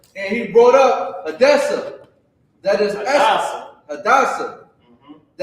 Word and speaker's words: Hadassah: Her name is Hadassah in the Bible as well, but the correct pronunciation is right there, Hadassah.